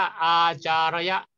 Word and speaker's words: อาจารย์: ว่า อาจารย์ นะ ครับ ถ้า เป็น สัน ตกิจ เขียน ว่า อาจารย์ ระยะ เขียน เหมือน กัน นะ ครับ มี จุด อยู่ ที่ รอ เรือ ตรง นี้ อ่าน ว่า อา จา ระ ยะ เรา ก็ ยืม สันสกฤต